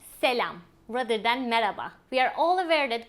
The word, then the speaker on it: merhaba: The most common one that we use is merhaba. Merhaba literally means hello, but in daily speech we do not pronounce the H sound. So it is sufficient to say merhaba without pronouncing the H.